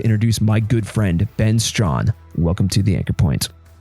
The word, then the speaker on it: Strahan: Today on the show, I've got my good buddy, Ben Strahan. Did I say you right? I always fuck up your last name. You said it right.